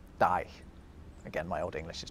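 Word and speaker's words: dæg: It has a G at the end, although it was actually pronounced more like a Y. It was die.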